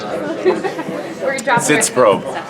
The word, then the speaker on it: Sitzprobe: How do you pronounce this word? Zitz probe.